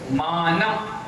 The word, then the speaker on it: मानम: निर्जित, नी भी छोटी है, जित भी छोटी है, तो निर्जित जगत त्रितयोप, त्रितयोप मानम, मानम। ना बोलोगे और मुंह बंद करोगे तो मां का उच्चारण अपने आप हो जाएगा। तो बोलो मां न, हो गया, ठीक है।